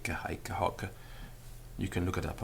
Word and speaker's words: hoc: peculiar in Latin because they are spelt with one C at the end of the word, but the Roman grammarians are quite clear that they are pronounced with a double C, particularly before a vowel. So hic, haec, hoc, meaning this.